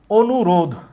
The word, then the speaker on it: অনুরোধ: আমরা অনুরোধ বললে কি ধয়ের সাথে সে অয়ের উচ্চারণটা করতেছি? উত্তর হইতেছে না, আমরা অয়ের উচ্চারণটা তো করছি না, তাইলে সেখানে হসন্ত চিহ্ন দিতে হবে।